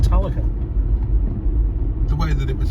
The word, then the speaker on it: Talacre: So here we are, approaching Talacre, and we're just going over the coastal railway line.